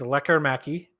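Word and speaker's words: Lekkerimäki: Between Lecker Mackey, which is very different than how I thought you pronounced his name, but it is Lecker Mackey.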